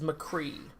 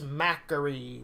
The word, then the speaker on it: McCree: in the sky is McCree which I thought yeah I think that's how they pronounce it which I thought it was Mac URI but it's actually just